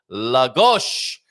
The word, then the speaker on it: Lagos: And stress on the penultimate syllable. Who doesn't like a bit of a stress on the penultimate syllable? Lagos. Lagos, is that right now?